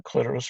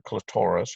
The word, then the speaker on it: clitoris: not that great but here's the clitoris or clitoris ever you want to pronounce it and that's kind of